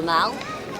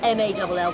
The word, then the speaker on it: Mall: This road here is called the Mall. It's spelled M-A-L-L, pronounced Mal, not Mall, but Mal.